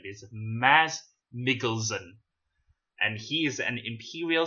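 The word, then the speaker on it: Mads Mikkelsen: She's the daughter of Galen Erso, played by, apparently it's pronounced like this, Maz Mikkelsen.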